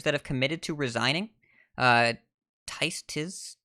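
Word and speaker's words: Tizs: Tiz, T-I-Z-S, not Tice. Tiz, I don't know how to say it.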